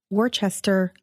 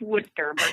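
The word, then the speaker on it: Worcester: of the Holy Cross in Worchester Massachusetts did I pronounce that right Lisa no it's wood sir thank you I'm so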